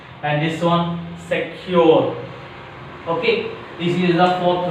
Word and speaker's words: secure: The fourth rule is some disyllabic verbs. Some disyllabic verbs express on which syllable? Second syllable. Some disyllabic verbs which express on a second syllable.